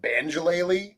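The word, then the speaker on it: banjolele: play them i do jeremy first of all you pronounced it wrong come on yeah the banjo is actually a banjo-laylee so it's strong like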